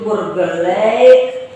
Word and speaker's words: Burgerlijk: Itu adalah terjemahan dari bahasa Belanda, yaitu Burgerlijk Wetboek. Ya. Ingat bukan Burgerlijk ya. Saya pernah baca YouTube channel Burgerlijk, itu salah ngomong. Burgerlijk Wetboek, cuma tulisannya itu LIJK. Jadi Burgerlijk itu ejaannya LIJK, dibaca Lake Wetboek.